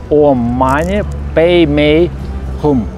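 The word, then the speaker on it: Om Mani Peme Hum: о хиллерах, сказал, что тибетцы читают эту мантру со словами Ом Мани Падме Хум. Ну так вот это произносится в Тибете.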